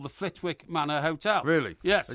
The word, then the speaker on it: Flitwick: And it's not pronounced Flitwick. The hotel, I know, because I rang them up, is called the Flitwick Manor Hotel.